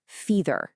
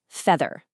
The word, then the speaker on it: feather: a long e sound feether. Again, that's the error feether. But the correct sound is that same short e vowel just like in bed. So the correct way to say it is feather.